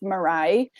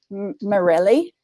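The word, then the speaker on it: Mireille: i'll have to spell her name was set pronounced murray but it was i think it was french so it was m-i-r-e-i-l-e so every new teacher morelli and little goes nice murray oh my gosh yeah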